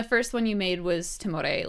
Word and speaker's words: Timore: So you just said Timore. That's how it said? Timore. Okay. You can Timore. pronounce it however you want. I don't Okay. mind. Everyone has their own version.